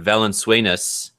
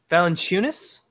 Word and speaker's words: Valanciunas: Let's talk about I'm gonna say his name wrong, but Valenzuelas, who just got signed to a 4-year, $64 million deal. Valanciunas? That's correct. Yeah. I haven't said his name for a few months. I always said it wrong during the season.